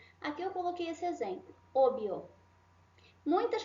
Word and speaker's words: obvio: La V, que é essa letrinha aqui, la V, tem som do B.